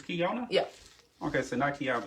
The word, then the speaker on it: Keyona: know oh that's just kiana from here excuse we went to central together what do you know what's what probably been saying your name wrong it's kiona yeah okay so nike